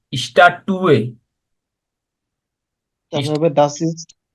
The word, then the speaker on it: Statue: হ্যাঁ, স্ট্যাচুর আর্টিকেল হলো ডি, স্ট্যাটুয়ে। তারপর হবে das ist না, ডি ein উচ্চারণ হলো ডি স্ট্যাটুয়ে, তারা হবে দাস ইজ আইনে eine স্ট্যাটুয়ে।